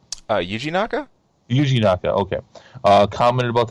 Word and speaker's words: Yuji Naka: How do you pronounce this? Noya Naka? Did I get that right? Yuji Naka?